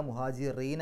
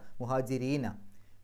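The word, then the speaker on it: مهاجرين: മസാക്കീന വൽ മുഹാജിരീന മുഹാജിരീന റാഇന് കസർ അപ്പൊ രി എന്നുള്ള ഉച്ചാരണം കൊടുക്കുക മുഹാജിറീന അല്ല മുഹാജിരീന ഫീ സബീലില്ലാഹി സബീലില്ലാഹി എന്ന്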